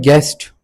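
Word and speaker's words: guest: उसके बाद हमारे पास है गेस्ट। गेस में हमारे पास यू साइलेंट है।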